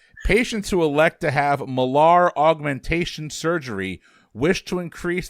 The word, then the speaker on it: malar: 'Cause I'm thinking molar, and it's malar. I do know it's pronounced malar, but Oh, sorry.